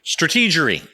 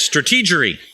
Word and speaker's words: strategy: so a lot of a lot of strategy strategory strategic that's a George Bush word for those